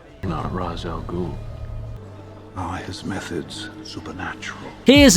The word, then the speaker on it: Ra's al Ghul: Am I pronouncing this right? Mr. Ra's al Ghul? No. Ra's al Ghul.